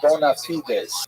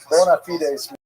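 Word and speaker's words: bona fides: call in Latin the term bonafides, right? Maybe you've heard bonafide as that's how Americans say it, right? Bonafidees means good faith, meaning that they are in fact what they purport to be.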